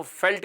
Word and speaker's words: veld: घास के मैदान को फेल्ट कहते हैं। हालांकि लिखते हैं VELDT हैं लेकिन प्रोनाउंस करते हैं फेल्ट।